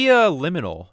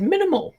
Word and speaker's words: liminal: It's pronounced liminal, James. Yeah. Liminal. Yeah. I said minimal.